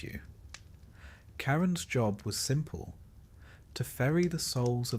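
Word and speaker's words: Charon: Even if you've never quite been sure how to pronounce his name, it's Kyon for the record, though he doesn't seem the type to correct you. Karen's job was simple, to ferry the souls of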